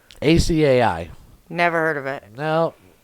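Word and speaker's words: açaí: clue what they are akai acai never heard of it no oh pronounced ashi by the way okay still never heard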